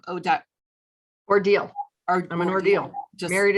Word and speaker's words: Odile: do you say your last name oh duck ordeal i'm an ordeal just married into the box